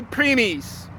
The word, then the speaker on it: primis: physical creation is a preemies preemies if you can speak spanish you can roll your r's preemies my fathers my